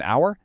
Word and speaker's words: hour: Number four, an hour thanks to that silent h vowel sound.